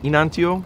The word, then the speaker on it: Enantio: So, Enantio, did I pronounce it correctly? Enantio?